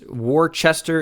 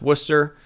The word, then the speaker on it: Worcester: gonna be in Massachusetts war Chester is pronounced Worcester and Massachusetts you do